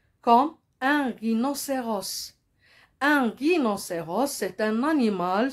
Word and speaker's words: rhinocéros: aussi H comme un rhinocéros. Un rhinocéros, c'est un animal sauvage. Regardez ici, il y a le H muet, la lettre muette.